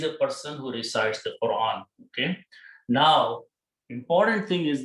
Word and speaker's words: Qur'an: Most of the Indian Pakistani people pronounce this word wrong. How do they pronounce? They say Quran. Oh, that's how they pronounce it, Quran. Okay, that's wrong pronunciation. It is not Quran, Quran. Okay, so let's correct this one. The correct pronunciation should be that.